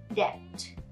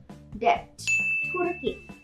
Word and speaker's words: debt: ต่อมาค่ะคำว่าดาบคำนี้หลายคนอ่านผิดไม่ใช่ sword นะคะแต่เป็นพยางค์เดียวค่ะ swordคำว่าหนี้สิน debt debt เหมือนจะออกเสียงตัว b ด้วยใช่ไหมคะตัดออกไปเลยค่ะออกเสียงเป็น debt debt ธุรกิจไม่ใช่ business ไม่ใช่ business แต่เป็น business สองพยางค์ค่ะเป็น business